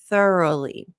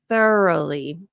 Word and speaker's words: thoroughly: of that word again thoroughly because it looks like rough is in the middle of it it is not pronounced the same way oh I don't know